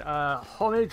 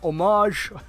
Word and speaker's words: homage: So this is obviously paying homage or homage, however you want to pronounce it, to the Audi S1 Quattro we're already getting.